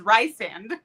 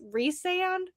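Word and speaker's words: Rhysand: Well, that's like Reand was riceand that ruined my life. That's when I started listening to audiobooks was because of and they're like, "Oh, come here, Rice." And I'm like, "Yeah." I was like, "Wait, no. I guarantee they're calling him Reese." And I'm like, "It's Reese Sand.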